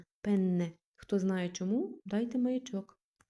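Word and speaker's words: penne: Дуже важливо чітко вимовляти подвоєння. Пенне.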